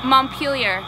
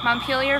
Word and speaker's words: Montpelier: town how do you say this town's name Montpelier Montpelier Vermont so what is going on out here